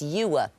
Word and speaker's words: ewer: And your, if you pronounce it like I do, it's not a homophone at all, but certain people would say your or you. It's ewer.